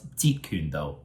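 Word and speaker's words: 截拳道: how to properly pronounce Jeet Kune Do? So just pronounce Jeet. Jeet is the sixth tone. Jeet Kune is like the fifth.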